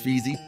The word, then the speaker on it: feasy: I said it's not feezy, it's feasy.